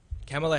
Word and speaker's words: Kamala: birthday to him um kamela harris is that you pronounce her name oh she's the vice president kamala harris yes yeah okay yeah she